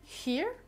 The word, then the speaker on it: here: Prenez l'habitude de l'exagérer au début, comme le TH, donc here, here, here. Alors pour la prononciation, c'est un peu la langue au palais. Here, here. Faut vraiment qu'il y ait de l'air qui passe.